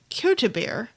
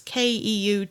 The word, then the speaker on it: Keutebier: When a beer that was brewed with wheat and barley base and bittered with hops called Qwinto beer, please forgive my horrible pronunciation on that. It is Keutebier.